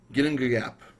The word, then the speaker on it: Ginnungagap: ton so but yeah the song is called hopefully get this pronunciation correct getting a gap I believe is the way it's pronounced correctly but of course you know I'm not Swedish so that could be wrong and parts of this